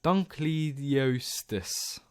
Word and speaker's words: Dunkleosteus: so I'll start we have done cletus done Dunkleosteus yeah that's how you say it I'm going